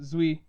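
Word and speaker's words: Duy: It's the name Zui is something I really struggled with because it's spelled D-U-Y. So it looks like Dwi, but it's with a Zui. It's with a Z at the beginning, under Vietnamese pronunciation.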